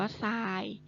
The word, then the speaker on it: ทราย: หนู อ่าน ว่า ดิน อัน นี้ อ่าน ว่า ทราย ทอ ทะ หาน รอ เรือ สระ อา ยอ